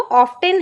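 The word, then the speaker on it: often: अब ये जो ऑफेन है, यहां पर बेसिकली जो ब्रिटिश एक्सेंट होता है, हम इसे यहां पर ऑफेन पढ़ते हैं क्योंकि इसका टी साइलेंट होता है।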